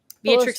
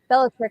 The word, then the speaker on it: Bellatrix: I'm gonna get her name wrong. Beatrix Lestrange. Yeah. Bellatrix Yeah.